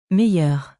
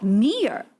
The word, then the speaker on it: meilleur: Meilleur. Oh, meilleur.